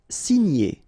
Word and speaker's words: signer: Signer, okay? G and N together, gn, gn.